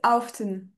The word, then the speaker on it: often: Alors, often c'est often. Often. On prononce le T là par contre.